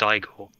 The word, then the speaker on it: Igor: frankenstein classic absolute classic actually it's pronounced igor nick i'm not going